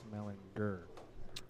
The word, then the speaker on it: Mellinger: His last name is pronounced Mellinger. Really? Yeah. Well, yeah, but everybody's just always said it wrong. I know. That's what I was telling him earlier. He's like, no, it's with a hard R.